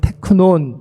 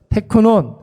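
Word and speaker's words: τέκνον: 것입니다 여러분 여기서 말하는 작은 자라는 것은 헬라 발음으로는 테크논 이렇게 발음을 하는데 여러분이 말은 주로 사도 바울이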